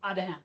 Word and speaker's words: Adegem: thanks as amended to the volunteers at the Adegem. Ted, how do you pronounce that in the Belgian or Belgium? Is it Adegem? Maybe. Adaham.